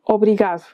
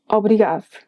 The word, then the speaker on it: obrigado: A very odd case of the D disappearing is in the word obrigado. Well, it disappears if you expect to hear obrigado, do.